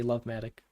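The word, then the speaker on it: lfMATIC: We spell it LF Matic, so for Liquid Farmed Matic, but in order to abbreviate, we say Lovematic.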